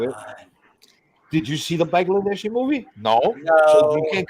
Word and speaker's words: Bangladeshi: Bangladeshi, not Bangladesh. All right, Bangladesh me. Bangladeshi. Okay, Bangladeshi, not Bangladesh. That's you pronunciate.